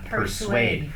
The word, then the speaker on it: persuade: persuade นะ ครับ persuade ซึ่ง มัน ออก เสียง แปลก ๆ นะ ครับ per ก็ p e r per นะ ฮะ แล้ว ก็ s u a d e ออก เสียง เหมือน จะ เป็น s w a d e sade sw ไม่ ต้อง Su นะ ฮะ Su persuade persuade persuade อ่า